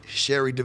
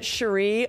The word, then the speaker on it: Cherie: how you pronounce it but I pronounce it Sheree only because Sheree Curry from The Runaways pronounced it like that and she's an look